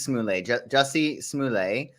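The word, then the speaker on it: Jussie Smollett: so many things uh jessie smallay simolette smoolette smoolay are we pronouncing it like target yes it's smooth i believe it's smoothly jessie smuley uh chris cuomo cuomo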